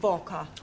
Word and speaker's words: Walker: Walker. Walker. What? W is pronounced W. Your employer's name is Walker.